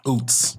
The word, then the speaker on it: Ouzts: Like, that's, Ouzts. yeah, Ouzts. So how do people usually pronounce that when they try to say it?